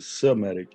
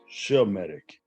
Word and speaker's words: Semitic: and it's not even somatic it's pronounced sheametic because it comes from the loins of Shem Shem was a literal